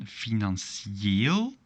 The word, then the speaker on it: financieel: Now, if there is no double dot, as in financieel, we're going to have the same pronunciation as here, Brazilië, financieel.